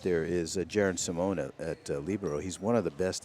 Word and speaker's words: libero: I like how you say that, libero. Yeah, One of the languages you speak. That is the proper pronunciation in Italian.